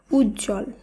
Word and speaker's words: উজ্জ্বল: হয় না আবারো বলি যুক্ত ব্যঞ্জনের সঙ্গে যদি ব ফলা যুক্ত থাকে তাহলেও সেই বফলার উচ্চারণ হয় না উদাহরণগুলো দেখে নেব তাহলে আমাদের বুঝতে আরো সুবিধা হবে যেমন উজ্জ্বল সান্ত্বনা মহত্ব দ্বন্দ উচ্ছ্বাস